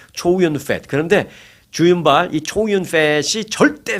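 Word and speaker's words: Chow Yun-fat: 그런데 이제 그게 이제 한국식으로 발음을 해서 그렇죠. 그런데 미국에서는 초윤이라고 하죠. 초윤. 네. 거기서 이름에 펫이 들어가서 좀 그렇긴 합니다만은 초윤 펫.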